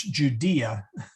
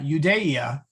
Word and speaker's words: Judea: it right in english it's judea you day yeah judea you day ah there we go bethlehem in judea est